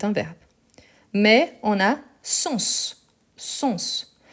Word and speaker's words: sens: Mais on a sens. Sens. Et ici, c'est différent parce qu'on prononce le S. Donc, c'est pour dire qu'est-ce que ça veut dire, les sens d'un mot.